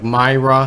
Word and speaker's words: MyRA: You guys remember the MyRA accounts Obama set up? I remember doing at least a couple of videos on this when they first came out. MyRA, like MyRA, is how they pronounce it.